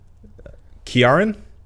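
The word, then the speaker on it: Ciarán: oh that's very celtic it looks like crn but that's not how you pronounce it i'm sure heinz probably a it's probably a hard c kiaran like killian murphy sure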